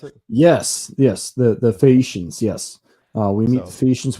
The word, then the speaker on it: Phaeacians: Is that how you pronounce it? Yes, the Phaeacians, yes.